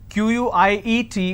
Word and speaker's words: quiet: deserted empty quiet now quiet there are two ways to spell it quite means little or some means silence q-u-i-e-t is pronounced at quiet quite means q-u-i-t-e so choose the word